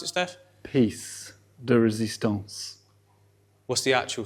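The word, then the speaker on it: pièce de résistance: How do you pronounce it, Steph? Piece de résistance.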